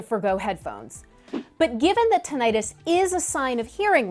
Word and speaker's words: tinnitus: absolutely can fun fact number two it's actually pronounced tinnitus in the medical community but others tend to say tinnitus back to the first fun fact having tinnitus